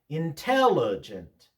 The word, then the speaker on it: intelligent: Intelligent.